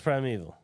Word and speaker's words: primeval: prime prime valal dude see Primal no it's Prime eval Prime Evil is it